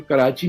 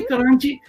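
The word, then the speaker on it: کراچی: तो कराची को करांची बोलते हैं। करांची बोलते थे तो बोले मैं करांची, भाई कराची तो कुलाची, माँ कुलाची के नाम पे है ना शहर। तो शहर की प्रोनाउंसिएशन बदल गई। वो इंग्लिश में जब लिख दिया अंग्रेज ने तो कराची लिखा तो कराची हो गया।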